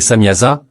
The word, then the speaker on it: Samjaza: Le chef de ces anges, connu sous le nom de Samjaza, parfois prononcé Samyaza, avertit les veilleurs qu'ils